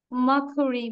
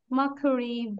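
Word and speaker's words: Mercury: মার্কুরি, মানে আর এর উচ্চারণটা আমরা করব না। মার্কুরি, ভেনাস, আর্থ, মার্স, জুপিটার, এই জুপিটার বলবো না, আর এর উচ্চারণ করব না।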